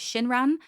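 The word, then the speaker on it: Xinran: We also had my favorite event was with an author whose pen name is Shinran, spelled with an X at the beginning, and she was a radio host of a women's I got to say this right, women's radio women's hour.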